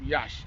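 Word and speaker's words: Iași: We're in this beautiful lake, and I'm in the outskirts of Yash. Yash is spelled L-A-S-I.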